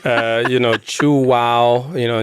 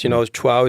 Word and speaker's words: Chuao: We chose a name that very few people can pronounce. Just putting 3 vowels together. I didn't know it was such a hard thing for the English language, but Chuao, instead of whatever.